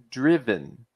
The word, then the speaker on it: driven: if it didn't have if there was no N on the end it would be drive like I Drive my car but this word is